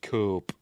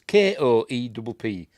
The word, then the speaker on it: Koepp: And I was pronouncing it Cope. Because it's Koepp, but it's pronounced Koepp, apparently.